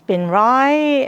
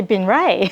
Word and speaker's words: Binh Rey: more okay um well my name's Ben Rai uh even though it's spelled r-e-y it's pronounced arrive as my mother-in-law says I've got to correct people because you know people say Ben Ray yeah I'm being Rye